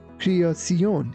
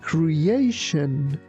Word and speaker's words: creation: Be careful not to say creion is creation.